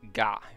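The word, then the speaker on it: ガ: This is ga. You pronounce this as ga, like the word garden.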